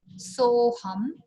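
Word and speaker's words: सोऽहम्: Soham. Soham. Soham. See, so is a little softer.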